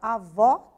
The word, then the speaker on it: avó: Então, a palavra avó tem o O aberto.